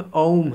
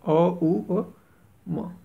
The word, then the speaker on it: ओम: ओम कहा जाने लगा वास्तव में औम है अ उ अ म तो य वही बात